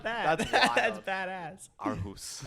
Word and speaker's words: Aarhus: Aarhus. Aarhus. Yeah, I was like, there's no way that's actually how you pronounce it.